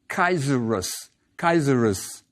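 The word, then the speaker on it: Kaisaros: queen is a Cleopatra whose name during that period of Egyptian history sounds like kaerus kaerus Caesar yes it's the Roman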